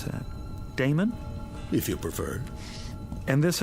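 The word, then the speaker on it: Daemon: a e m o n how do you pronounce that Damon if you preferred and this address I guess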